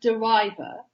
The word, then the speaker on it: de River: of this yeah yeah it's actually pronounced derive er because he said it